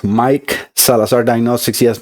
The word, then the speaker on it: Maic: letters where it says Mike Salazar Diagnostics. Yes, my name is spelled different M A, but it sounds like a regular Mike.